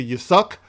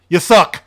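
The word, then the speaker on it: Yasuke: s u k e I think it's either y suck or Yuki or Yaki or whatever y suck is how I pronounce it but anyway you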